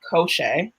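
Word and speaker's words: Koschei: So the second one is Koshe.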